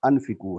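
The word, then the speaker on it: أنفقوا: امر کا صیغہ ہے تو انفقو ہے، الف پر زبر ہے.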